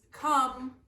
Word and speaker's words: come: a funny one because come is spelled almost exactly like home but they sound different don't they come and